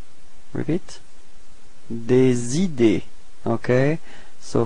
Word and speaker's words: des idées: Des idées. Repeat. Des idées. Okay, so final E and final S is are not pronounced as well.